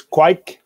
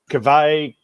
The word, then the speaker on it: Kveik: So there's, it's Kveik or Kveik, or I've heard Wyk. There, it depends apparently which little village you're in. There's different dialects.